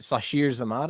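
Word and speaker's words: Sasheer Zamata: Like I was a fan of is it Sashir Zamata, I think is how you say it.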